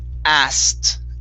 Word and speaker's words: asked: um ast okay so when we pronounce this word the k is silent uh the e is changed to a t so it's asked asked okay next is